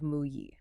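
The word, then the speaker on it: 木: On the left, you have the radical for wood, which is pronounced "mu".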